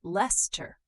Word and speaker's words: Leicester: Leicester, we say Les-ter.